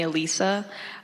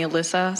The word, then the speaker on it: Elisa: So my family calls me Elisa, but like all my friends call me Alyssa, so it really doesn't matter. And then my last name, the Chinese pronunciation is.